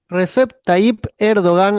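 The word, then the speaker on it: Recep Tayyip Erdoğan: Recep Taip Erdogan, así muy bien como lo pronunciaste, Bahía.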